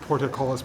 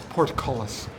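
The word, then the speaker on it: portcullis: It's I think I pronounce it porticololis, but it's porticolus is what it is.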